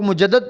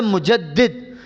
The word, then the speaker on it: مجدد: اے مجدد الفسانی۔ اچھا، یہ لفظ مجدد یاد رکھ لیں تلفظ کو، لوگ مجدد پڑھ دیتے ہیں، اصل لفظ ہے مجدد۔ مجدد کا مطلب ہوتا